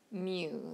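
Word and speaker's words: μ: Greek symbol is actually pronounced Mew like a like a cat Mew um and the only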